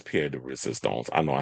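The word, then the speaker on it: pièce de résistance: But the Crier de Resistance, the icing on the cake, the creme de la creme, the peanut butter to my jelly, you already know that it's Pierre de Resistance.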